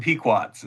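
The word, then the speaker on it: Pequots: this research, but uh, Naragansits, Moheagans, and Peekquats is how I would pronounce those and they would pronounce them at this point.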